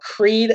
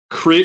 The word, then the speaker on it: Creed: no you silly Billy it's not the band Crete what is it called Creed what Oh Chris Oh Creed is the brand and then it's spelled